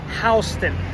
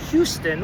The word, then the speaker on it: Houston: It's not pronounced like the city in Texas. Houston, which is named after Sam Houston, who was the first president of the Republic of Texas.